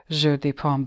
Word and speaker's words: jeu de paume: But anyway, let me read the history of Jeu de Paume. or jeu de paume. I have to pronounce it properly.